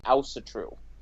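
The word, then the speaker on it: Ásatrú: Yeah, I say Asatru because I'm American. The technical pronunciation would be Asatru. Gotcha. But that's if you're European, and you're using a European accent, and I'm American, and we obviously don't know how to talk correctly.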